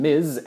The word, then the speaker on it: Ms: the case until the late 20th century when Miz Ms once again became popular in the early